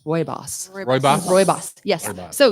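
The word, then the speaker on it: Rooibos: made from the leaves known as red bush robios awesome and I looked this up and I watched a video it's actually pronounced Roy bossy boss Roy boss yes so you got four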